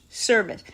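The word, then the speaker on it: Servais: Service.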